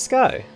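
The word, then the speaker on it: Skie: what I want oh it's sky or ski sorry that's how it's pronounced Donald what are you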